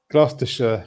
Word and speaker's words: Gloucestershire: over on that side of the pond. Gloucestershire. Pronounced like us Americans say sure when we're lazy.